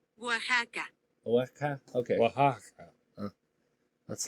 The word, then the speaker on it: Oaxaca: I don't know how to say that, Oaxaca state government and the municipality of Reyes Etla teamed up to organize the record attempt.